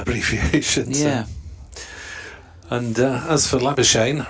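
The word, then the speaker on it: Labuschagne: yeah and as for labor Shane rhymes with champagne he just gave up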